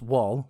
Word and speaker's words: Wal: So, Wall, that's W A L and it's pronounced Wall like in Walmart.